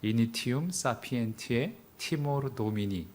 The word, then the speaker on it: Initium Sapientiae Timor Domini: 유명한 그런 경고입니다 어 발음은 뭐 거의 라틴어는 발음 기어처럼 읽어서 이니티움 피엔티의 티모르 도미니 요렇게 그냥 읽습니다 어 사실 이게 별거